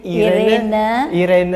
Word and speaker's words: Irene: Gimana bacanya Oma? Irene.